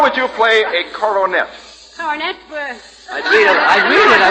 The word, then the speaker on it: Coronet: You would read Coronet in the Pocket Magazine. Your best bet. That's very good. I thought you said cornet. I said coronet. 3 syllables, just as plain, Mrs.